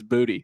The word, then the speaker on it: Boutte: Is it Boutte? I think it's Boutte. I've actually heard the official pronunciation that he prefers is Boutte.